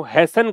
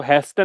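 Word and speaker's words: hasten: Accelerate आप इसको कह सकते हो, हैसन कह सकते हैं इसको, हैस्टन नहीं बोलते, हैसन, टी म्यूट रहता है इसमें।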